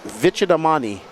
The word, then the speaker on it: Vicadamani: Greg Smith, Lee Flowers, Dave Fowler, Joshua Vicadamini. He told me his name, how to say it, Vicadamani.